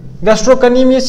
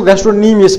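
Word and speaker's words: gastrocnemius: गैस्ट्रो, गैस्ट्रो, गैस्ट्रोनीमियस, गैस्ट्रोकनीमियस, इसको नहीं पढ़े, इसको गैस्ट्रोनीमियस पढ़े, ठीक है ना, सी इज साइलेंट।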